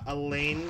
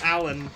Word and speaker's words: Alain: his Discord but uh it's spelled like a l a i n but pronounced Allen it's weird but uh he made